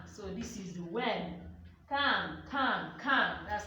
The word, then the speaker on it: quand: Quand. That's how I'm pronouncing it.